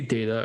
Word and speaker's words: data: So the correct way to say data, according to the Online Cambridge Dictionary and Merriam-Webster Dictionary, is data, like day.